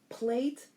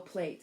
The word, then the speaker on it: plait: can say or spell plate, and there's several ways that the book spells it. So we're looking at P-L-A-I-T or P-L-A-T-T. Either one is correct. It's pronounced plat or plate.